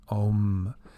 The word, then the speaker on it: Om: mind here this that the sanskrit ohm sign is literally translated as a-u-m however it's pronounced as om so beautiful symbolic representation